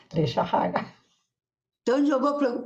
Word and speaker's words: Lejarraga: No espanhol se pronuncia Lejarraga e aqui se pronuncia Lejarraga.